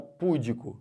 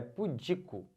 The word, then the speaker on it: pudico: pura ela é pudica e não pudeco se você fala pudico errou tudo perceberam é pudico ou pudica tá essa